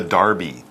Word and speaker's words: Derby: the dirty yes the Derby well actually since it's England it's sometimes pronounced the Darby because English people are weird did you like my